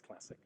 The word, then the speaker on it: Classiq: from the name and there are many people who Wonder how it's pronounced but on the record it's classic uh takes a lot